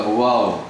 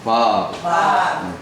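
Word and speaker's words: וָו: 와우, 혹은 바브. 발음이 두 가지로 납니다.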